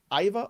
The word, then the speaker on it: Aiva: Is it Aiva Arquette? Am I saying it correctly? Yeah, Aiva Arquette. It is Aiva.